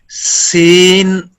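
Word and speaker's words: سين: seen, seen pronounced as seen, tip of tongue comes between the front top and bottom teeth.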